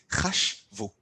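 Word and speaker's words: חָשְׁבוּ: form, the same chashav, to put a u sound at the end and still to cut the verb in the middle. So hem or hen, chashvu. Say it with me, chashvu.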